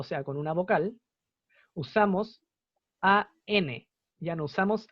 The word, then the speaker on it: an: Es un tema de conveniencia a la hora de pronunciar. Porque si uno no tuviera la N, uno no dijera an, costaría decir así como a Italian sandwich, a umbrella, a American. Sonaría raro, sería como difícil de diferenciar una palabra de la otra.